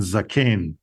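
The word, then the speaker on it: זָקֵן: we have Zakan and Zaken. So if I change this vowel marking here to the two dots underneath here at Tzere, it's Zaken, Zaken.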